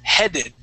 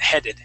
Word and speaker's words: headed: is going to be headed and headed towards headed yeah so that that e EA on in this particular word is H pronounced with a short e sound headed headed okay uh let's